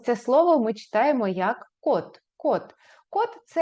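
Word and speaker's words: 꽃: слово Прочитайте добре друзі Це слово пишеться як коч але читається як код давайте згадаємо Якщо у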